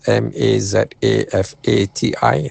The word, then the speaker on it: mazafati: Mazafati is spelled m a z a f a t i.